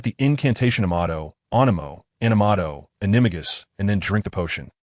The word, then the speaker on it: Animagus: Point the tip of your wand at your heart, recite the incantation Amato, Animo, Animato, Animagus, and then drink the potion.